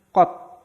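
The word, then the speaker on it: 꽃: Ada konsonan akhir ciet. Nah, konsonan akhir ciet itu dibacanya apa? T. Berarti kata ini dibacanya kot.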